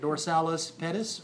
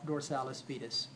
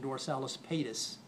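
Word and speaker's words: dorsalis pedis: here dors dors D pronounce that either one is correct dorsalis Pettis or dorsalis fetus okay I even heard one pron iation dorsalis pis okay I don't think that's right dorsalis petus or dorsalis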